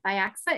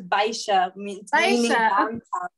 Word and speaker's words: Biaxa: communal rest somewhere in biaxa is i'm am i saying that right i'm sorry if i'm mispronouncing it it's a portuguese bishop yeah so we said x is like she yeah thank you yeah